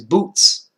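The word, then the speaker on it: בוץ: arrayed in boots, and that's how it's said in Hebrew. The zadik at the end, the tz, boots, boots. You hear that sound? It's not boot, it's boots with the tz or ts, however you might say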